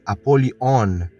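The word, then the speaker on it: Ἀπολλύων: Apollyon em grego koiné se pronuncia Apolion, que tem o significado de destruidor.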